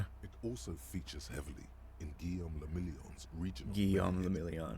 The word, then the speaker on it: Guillaume le Million: Guillaume le Million. If it doesn't Guillaume le rhyme, Million. you're not pronouncing it right.